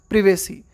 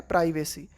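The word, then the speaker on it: privacy: एंड प्रिवेसी, देखो British जो उच्चारण करते हैं ना हम उसको, उसमें हम पढ़ते हैं प्रिवेसी, और अमेरिकन उच्चारण में इसको पढ़ते हैं प्राइवेसी। ध्यान में रखना, ब्रिटिश इसका उच्चारण है प्रिवेसी और अमेरिकन है प्राइवेसी इन the online space.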